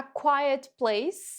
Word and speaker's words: quiet: A quiet place, ó, cuidado com a pronúncia dessa aqui, né? Quiet. Ela é bem diferente da forma que a gente escreve, né?